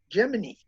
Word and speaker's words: Gemini: learned is Gemini it how is it actually pronounced Kenneth I would have said Gemini myself you know I always used to say Gemini as well and then I saw a number of astronauts calling it jiminee yeah yeah that's the way that's the official